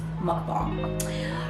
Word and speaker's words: mukbang: me now we're going to work on the pronunciation and it's mukbang so usually on up on days i don't